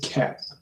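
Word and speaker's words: Koepp: David Keap. That's how you pronounce it.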